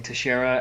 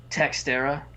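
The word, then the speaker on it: Teixeira: him yep uh also they uh they keep mispronouncing tashera as textera and it's very distracting but the ironic thing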